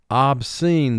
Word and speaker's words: obscene: Two syllables. First syllable, ob. Two sounds. Ah. B. Scene. Three sounds, s, e, n, obscene. Mark the word, obscene. Remember, SC is only a team when it's followed by E, I, or Y, as it is in this word.